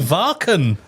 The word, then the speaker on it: Wacken: But oh, you called it Varken? Varken because I'm a metal elitist and that's what the locals call it. But yeah, I've done Wacken.